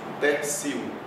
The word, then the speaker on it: tertium: Nós vemos aqui novamente o T e sem ser precedido de S e sem ser sílaba tônica, pronuncia C. Tertium.